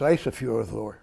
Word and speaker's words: Ísafjörður: It's a long I, so it's Ísafjörður.